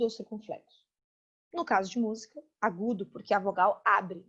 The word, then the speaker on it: música: Eu digo música. A palavra música tem uma sílaba tônica. Mu. Zi, ka. Esse zi, ka são sílabas átonas. Não tão fortes, não tão tônicas quanto mu.